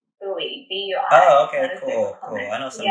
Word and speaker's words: Bui: Oh, no, I think it's a bit more Bui. Yeah, sorry, I say Bui for like, as in that's how I guess most people read it, but I think the pronunciation is like Bui. Not like Bui, which is dust.